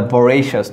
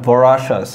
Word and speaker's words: voracious: I mean it pronounced as a voracious, not voracious.